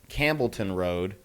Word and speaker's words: Campbellton Road: County off of she's she pronounced it Ron it's actually Campbellton Road um very dangerous Street